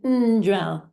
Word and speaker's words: ndrel: So it's gel and ndrel, ndrel. If it's without the n, the ng, without the n there, it becomes trel, which means the opposite of ndrel.